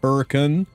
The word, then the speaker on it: Hurricane: We have the town of Hurricane because we can't say Hurricane. It's Hurricane. Um, you go about an hour east and you get to Versailles, Kentucky.